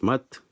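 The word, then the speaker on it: Maât: Ainsi, c'est de par le nom de couronnement de Ramsès que l'on sait qu'à travers le symbole de la divinité Mat qui se dit Ma et non Me, que l'on doit prononcer son nom de naissance Sou Ma Ré et non Ra Me Sou.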